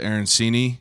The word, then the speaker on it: arancini: never had until I was here was the arancini yeah is how you pronounce it yeah yeah so I don't even